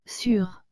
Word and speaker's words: sûr: sont les mots sur les deux se prononce sur fait celui du haut